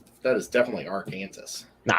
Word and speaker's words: Arkansas: did not know that it's against the law to say our kansas why would anyone say our kansas it's arkansas well if you read